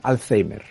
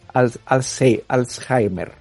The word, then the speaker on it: Alzheimer: tan tremenda como el aquí en España lo pronuncian Alzheimer en Latinoamérica sh no suena J Alzheimer es Es el mismo Tú crees que esa